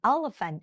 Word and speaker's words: elephant: มั้ย คะ มัน จะ อ่าน เป็น Elephant อ่าน เป็น เอะ ค่ะ เพราะ จำ ได้ ม ม ถ้า ตอน เรา เรียน ตอน เด็ก ๆ อี คือ เสียง เอ๊ะ ใช่ มั้ย คะ ที่ คุณ ครู เคย สอน แอ๊ะ เอะ อิ เอ๊ อ๊ ใช่ มั้ย ลูก นะ อี คือ เสียง เอ๊ะ นะ Elephant ไม่ ใช่ Eleven นะ คะ Elephant นะ ลูก Elephant